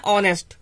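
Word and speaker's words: honest: एक चीज देखोगे कि यहाँ एच बन रहा है, फिर भी हमने एन का इस्तेमाल किया। वो एन का इस्तेमाल किया ही इसलिए है क्योंकि इसका प्रोनाउंसिएशन है ऑनेस्ट।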